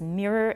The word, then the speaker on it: mirror: Similar disagreements also arise over words such as mirror and error. These two you should watch out because a lot of you pronounce the O and you should just pronounce a schwa.